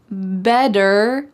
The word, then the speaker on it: better: Better late than never. Listen to that word. Better. Is there a D in this word? Better? Are we talking about a bed that you go to sleep in?